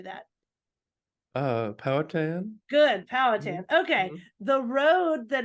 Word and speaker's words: Powhatan: Good, Mhm, Powhatan.